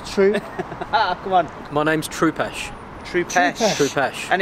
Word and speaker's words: Trupesh: My name's Troopesh. Troopesh. Troopesh. And it's spelled Right.